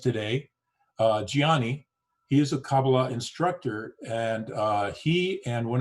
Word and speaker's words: Kabbalah: of uh kabbalah or as i learned it's pronounced actually kabbalah and uh when we were researching uh today's